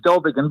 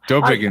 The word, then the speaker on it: Dowbiggin: Actually, it's Dowbiggin, but that's okay. Dowbiggin. I let people take a shot, whichever way, but Dowbiggin is the way I pronounce it.